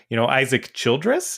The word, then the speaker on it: Isaac Childress: I can't pronounce words today. I would never know how to say it. I don't even, Isaac Childress.